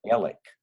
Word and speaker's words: Alex: It's called Alec. It's a Alex. nickname for it. But we spell that Alex. If you Mm-hmm. saw it, you would, in fact, when you read As a Crow Flies, it explains that. You would think that they're calling it Alex.